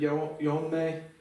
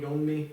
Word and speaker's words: Yeonmi: I don't know trying to say it right, like the North Korean, but that diphthong I would have said Yeonme. It sounded like more like a Yusung Yeonmi Park.